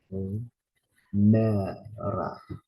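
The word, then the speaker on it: ἡμέρα: Notice the stress is on the second syllable. Emera, emera, which means day.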